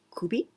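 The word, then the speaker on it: 首: Well, this shu, here we read shu, but we can also pronounce kubi.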